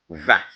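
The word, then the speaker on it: vingt: Remember the word vin ends with T, but is silent. It's not pronounced. It's pronounced vin, vin, as though it's only V-E-N, but G, T, and then they are silent.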